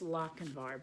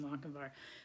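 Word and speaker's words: Lochinvar: knight like the young Lochenvar. So, no, I reversed that. War is supposed to rhyme with Lochenvar.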